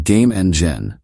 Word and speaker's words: GameNGen: game engines forever introducing game Eng gen and yes it's pronounced like game engine because well it is one but this isn't just